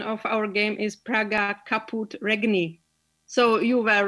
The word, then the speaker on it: Praga Caput Regni: the proper way to pronounce this game the pronunciation of our game is praga kaput regni so you were right i think that was